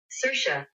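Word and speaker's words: Saoirse: me see if uh Google can help Okay sersa Sha Sha sersa sersa sersa sersa sersa never ever ever would have pronounced it like that so cersa sersa um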